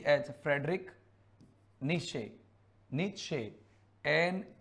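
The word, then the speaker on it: Nietzsche: ई आई डी आर आई सी H Frederick निशे निशे एन ई आई टी जेड एस सी एच ई नीचे spelling थोड़ा देख लेना लेकिन Frederick निशे थे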